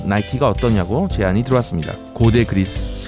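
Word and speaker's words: Nike: 동물 이름이냐 그렇게 싸우다 승리의 여신인 니께 미국식 발음 나이키가 어떠냐고 제안이 들어왔습니다 고대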